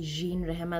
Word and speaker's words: Jean Rehema: Yeah, and for those who don't know me, I'm Jean Rehema, or you can be bougie and say Jean Rehema. That's actually the correct pronunciation.